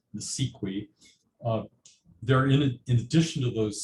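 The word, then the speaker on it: NACIQI: the Department of Education with a complicated acronym pronounced NSEQI.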